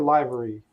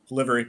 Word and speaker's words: Livery: was doing yeah is is it Livery or liary Livery Livery Livery chain yeah that's what I